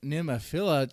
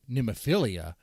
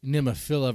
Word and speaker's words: Nemophila: but it's like well the band members pronounce it like name of fira I mean like I say just pronounce it like nimafila like make pronounce it the best way you can you know definitely don't do nemophilia okay you know that's like if